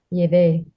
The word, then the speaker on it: llevé: Llevé. Llevé. Llevé. Llevé. And we punch the E at the end.